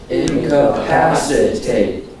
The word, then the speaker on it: incapacitate: syllable gets yes incapacitate incapacitate there are five syllables and the third syllable gets the accent okay so I will